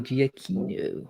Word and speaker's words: Giacchino: yeah, Michael Giacchino. Or War is like Giacchino. the What do you best.